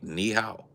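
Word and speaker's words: ni hao: Say nihow. N I space h a o.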